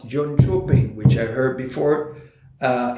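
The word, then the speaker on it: Jönköping: hide sequel company edition jean shepping that's the way you should pronounce john chopin which i heard before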